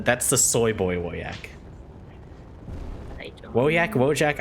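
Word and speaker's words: Wojak: the soy boy yak wojack i don't know it sounds eastern european so i'm gonna i'm gonna pronounce the j as like a a y sound in american english anyway i don't understand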